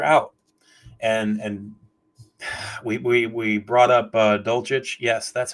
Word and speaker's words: Dulcich: And we brought up Dulcich.